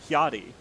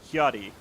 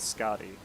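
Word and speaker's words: Skadi: It's probably pronounced like Hyadi, isn't it? Because the name strikes me as somewhat Scandinavian. So it'd be like Hyadi, not Scotty.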